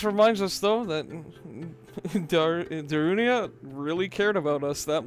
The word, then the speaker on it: Darunia: do you remember him that's right darunia I always called him darina I'm I love you I've always miss pronounce his name for my entire life